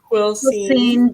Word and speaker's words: Quilcene: How do you spell that? How do you say it? Quilcene, Brennan.